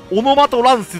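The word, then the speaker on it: オノマト変化: オノマト変化って書いて、オノマトランスって読むらしいですよ。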